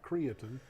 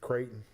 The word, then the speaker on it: Creighton: Not Creaton. My little Crichton. Creighton. That's got to be Creighton.